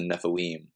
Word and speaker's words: Nephilim: is the the Nephilim or in Hebrew it's the Nephilim that's how it's pronounced and um they were